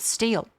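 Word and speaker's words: Stihl: Anyway, I got one from a brand called Steel, but it's spelled S T I H L.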